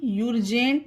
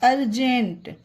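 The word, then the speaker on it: urgent: इसे भी यूरजेंट नहीं पढ़ा जाएगा, अर्जेंट।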